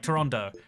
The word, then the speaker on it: Toronto: I want to say like Ontarians call it like Toronto. You try to like skip all the syllables.